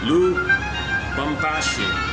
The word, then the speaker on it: Lubumbashi: Okay, let's just go back to Lubumbashi. Lubumbashi, that's easy to remember and pronounce.